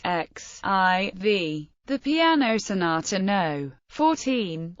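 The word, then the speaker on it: XIV: name of 14 and is pronounced as the separate letters x i v The Piano Sonata no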